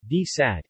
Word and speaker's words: די צײַט: From the 1910s to the 1950s, London had a daily Yiddish newspaper called Die Zeit, D-T-S-A-Y-T, Yiddish pronunciation, D-Sat, in English, The Time, founded, and edited from